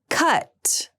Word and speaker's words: cut: Caught, cut. Caught has the sound that's pronounced with the lower tongue position, and cut has the sound.